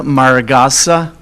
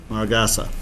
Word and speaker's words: Maragasa: my name is Maragasa. Maragasa, okay? Yes, that's Portuguese.